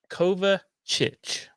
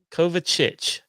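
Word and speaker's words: Kovačić: mask anymore mate uh it's pronounced cover chich so we will trust just go himself cover chich all right um let's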